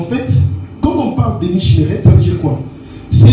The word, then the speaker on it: Mishmeret: L'ordre, en hébreu, c'est Mishmemet. Je vais vous appeler tout ça, ne vous inquiétez pas. Mishmeret, pardon. Ça s'écrit M-I-S-H.